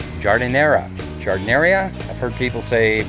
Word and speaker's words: giardiniera: This is, I hope I'm pronouncing this right, Giardiniera.